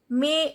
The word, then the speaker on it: mais: May. AI sound is A, S is not pronounced. Mais vous me moquerez tout.